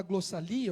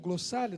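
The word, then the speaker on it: glossolalia: A palavra que aparece em todas as vezes é essa palavra aqui, glossa, da onde vem a chamada glossalia ou glossália, dependendo da interpretação ou da maneira que se pronuncie.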